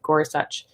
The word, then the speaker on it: Gorsuch: pronounce his name and there's a video of him saying it so that is how you say it gorsuch um he he actually